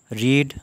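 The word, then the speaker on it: read: रीड यह पहली form है।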